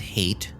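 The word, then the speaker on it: Haight: And so his teacher's name, by the way, is Mrs. Hate, and it's spelled H A I G HT T like Hate Ashberry.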